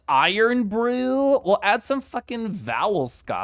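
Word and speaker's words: Irn-Bru: um it's not orange oh it's pronounced iron Brew well add some [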